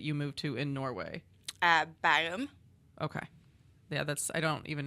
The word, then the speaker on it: Bærum: How do you pronounce the name of the city that you moved to in Norway? Bærum.